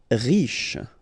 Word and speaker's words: riche: Riche, final E not really pronounced, so sh is the last sound, riche.